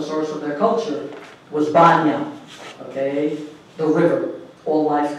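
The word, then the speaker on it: Bóinn: Remember that in Irish tradition, the oldest goddess is actually called Banya, and you might know of her more by the English mispronunciation of Boyne.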